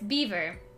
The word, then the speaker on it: Belvoir: belvoir i don't think i always say belvar it's beaver i'm pronouncing it the french way d do you guys